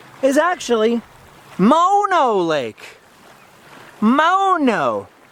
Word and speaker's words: Mono: It's pronounced mono, because they were spelling it mono. In my brain, it's mono, like, you know, when you get sick.